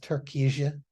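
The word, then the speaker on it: Türkiye: They're pronounced Turkija, but it's spelled this way.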